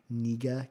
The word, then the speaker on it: Kniga: I think the pronunciation is closer to Kniga, K-N-I-G-A.